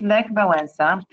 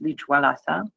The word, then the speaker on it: Lech Wałęsa: On the left, you see the very first front page of Gazeta Wyborcza back in early 80s with Lech Wałęsa. Lech Wałęsa, not to be pronounced Lech Wałęsa.